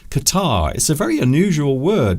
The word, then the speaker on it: catarrh: that is something called catarrh. Qatar. Now, not the country, not the Arabian country, but this is spelt differently, even though it is pronounced very similar to it. Qatar is a very unusual